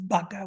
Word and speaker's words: vaca: So you can see that vaca is spelled with a V, but it's pronounced vaca with a B, with a stop B, bilabial.